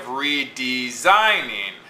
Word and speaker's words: redesigning: So we have redesigning. Okay? Notice it's unstressed, unstressed, stressed, unstressed. Redesigning. It's not redesigning or redesigning or redesigning. It's redesigning. Okay? And so we have two unstressed syllables, one stressed and one unstressed.